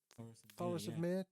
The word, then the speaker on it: Thoros of Myr: Thoros Myr. Is that how you say his name? Thoros of Myr.